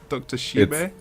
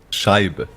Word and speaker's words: Scheibe: Dr. Shibe? Scheibe. Scheib. Dr. Scheib. Okay. Scheibe. The E isn't silent. Scheib.